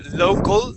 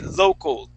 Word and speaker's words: local: here with that word instead of saying local or local we want to say local so it's a it's more of an o sound there we say local